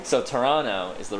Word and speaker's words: Toronto: city in canada see you said the second t you said toronto yeah you don't say the second t toronto you say you say toronto yeah okay yeah or